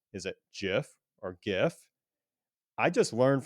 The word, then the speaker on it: GIF: That's good to know because I said GIF up until literally today and I was very resistant to adopt the the soft G uh GIF for whatever reason. But I feel like at this point I have just heard it way more than I've heard the hard G.